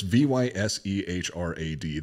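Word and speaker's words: Vyšehrad: Well, it's Vysehrad. That does not spell Vysehrad. S's are like CHs in Czech, and Ys are E's. I can't remember. It's like Vysehrad, something like this.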